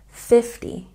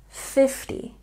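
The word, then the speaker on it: fifty: Of course, you remember that we have a stress on the first syllable for numbers in the tens, and this T makes a soft T sound, 50, 50.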